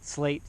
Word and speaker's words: SL8: Oh, SL8 slate saddle. SL8. I guess it's pronounced slate.